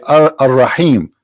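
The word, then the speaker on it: الرحيم: They say Ar-Rahim because this is how it's pronounced, but the fact it is Al-Rahim, Al-Rahman, Al-Aziz, Al-Muhaymin, etc.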